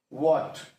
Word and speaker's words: what: Next is what, WHAT. Now we have to find out the silent letter. So इसमें H silent है, that is a consonant.